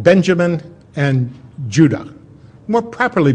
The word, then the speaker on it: Judah: were called Benjamin and Judah more properly pronounced Yuda because we didn't get the harder sound to the J until about 200 years ago so this is what